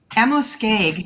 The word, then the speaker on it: Amoskeag: The name of the book is The Spirits of Amoskeag, if I'm pronouncing that correctly. Amoskeag, yes.